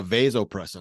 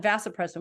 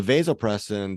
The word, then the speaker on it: vasopressin: present and very quick uh vasopressin oh I've called it vasopressum which is the monogamy hormone correct correct and people pronounce it both ways um yes vasopressin or